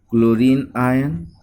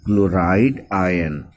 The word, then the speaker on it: chloride: It will be chloride ion. It is chlorine, forms from chlorine. Chlorine ion is wrong. It will be chloride ion.